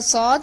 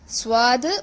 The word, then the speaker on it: ص: Do not pronounce the letter Sad as Swad or Swad.